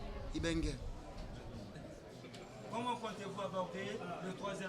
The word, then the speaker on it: Ibenge: Les gens vous appellent souvent Ibeng ou Ibing. Et quelle est la vraie prononciation ? Ibeng.